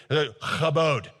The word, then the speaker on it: kabod: say it to sound like a real Hebrew speaker, okay? Kabod. Say it. If the person in front of you is not kind of wiping stuff off the back of their head, you didn't say it right.